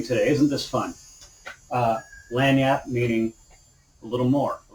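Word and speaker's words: lagniappe: a little bit extra that's lang yap if you will another french word hey look how much we're learning today isn't this fun uh lanyat meaning a little more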